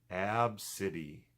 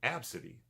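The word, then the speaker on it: Abcde: c d e and her name is pronounced ab city which is not a bad name ab city a b and city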